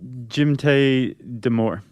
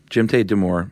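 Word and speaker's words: Jdimytai Damour: Do you know how to pronounce his first name? Jimte Demore. Jimte Demore.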